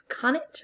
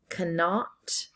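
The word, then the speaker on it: Connacht: she'd come she's from Cana isn't she there's some argument about how that's pronounced according to the Irish it's con it rhymes with bonnet according to the English it's cannot cannot rhymes with untaught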